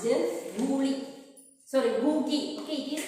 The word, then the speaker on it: GUI: It is pronounced Googie. Okay, it is pronounced Googie.